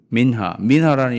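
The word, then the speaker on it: מנחה: 소제는 히브리어로 민하입니다. 민하. 한국 드라마에 나오는 여자 배우 이름 민하라는 이름이 또 많죠. 그 발음 그대로예요.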